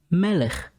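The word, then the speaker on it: מלך: word example is melech the word melech ends with the letter kaf but this time the letter kaph has no dagish therefore it makes the gutler sound of the syllable ch melech means a king letter number 12 lamed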